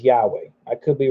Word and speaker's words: Yahweh: best I can tell the way you pronounce it is Yahweh I could be wrong